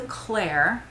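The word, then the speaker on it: Klare: It's called the Claire. It's spelled with a K, K-L-A-R-E, and I think it's really pretty.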